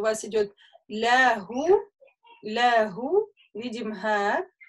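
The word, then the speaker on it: لَهُۥ: Смотрим, смотрите, у вас идет ля-гу, ля-гу, видим га, с дамма, и после нее идет маленькая вау. То есть это вот как раз на это правило указывает. Если я остановлюсь, я скажу ля.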